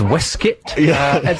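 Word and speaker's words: waistcoat: and you're wearing I believe a waistc yes pronounced wuit that's going down the listeners know that and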